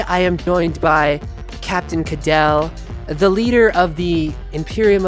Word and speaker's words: Caldwell: Today, I am joined by Captain Caldwell, the leader of the Imperium of Expanse. Did I say that right? No, what is it? Caldwell.